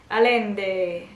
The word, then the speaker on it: Allende: Sie kommt aus Chile, also wird es Spanisch ausgesprochen. Allende. Arriba! Allende, Allende!